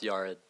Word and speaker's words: Yared: First, it's pronounced Yared.